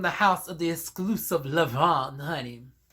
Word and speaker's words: Levant: That's why you pronounce the N, but you do not pronounce the T in Levant.